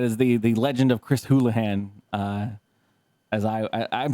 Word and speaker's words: Houlihan: But yeah, that is the legend of Chris Houlihan. As I'm saying his name wrong, I'm sure, but no, I think you're saying it right. Houlihan, yeah.